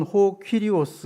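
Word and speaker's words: κύριος: 원어로는 호 퀴리오스 이렇게 발음하는데 생명의 주인, 이런 뜻이 있다고 합니다.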